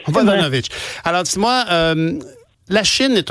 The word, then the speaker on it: Vodanovic: Mme Vodanovic, Mme Vodanovic, bonjour. Bonjour, M. Nantel. Bonjour, est-ce que j'ai bien prononcé votre nom? Oui, la deuxième fois, c'était parfait. Oui, c'est ça. Vodanovic. Vodanovic.